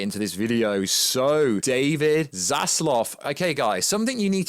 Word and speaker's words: Zaslav: it wrong so yes i know it's not solaski i know it's zazeloth i do it on purpose okay there you